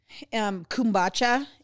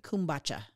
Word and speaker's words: kombucha: Kombucha is a fermented drink.